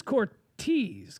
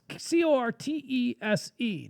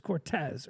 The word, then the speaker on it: Cortese: And by the way, her last name is Cortese, Cortese. Now that's not. I think I mispronounced it as Cortez earlier, but is that the Italian for Cortez, or is Cortese?